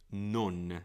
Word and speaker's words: non: Non is the proper pronunciation. I'm doing it too English here.